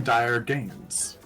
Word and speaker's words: Dire Gaines: I am Dire Gaines, and I pronounced that and enunciated it properly, so you wouldn't get any strange verbs in your head, versions of it in your head.